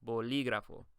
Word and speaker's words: bolígrafo: But whenever the stress is not on the second to last syllable, we typically add an accent. So it's bolígrafo.